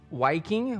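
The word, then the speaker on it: Wiking: by an author Mike waiking which it's spelt his last name spelt with a W but I believe it's pronounced with a V so it's like Viking and which is ironic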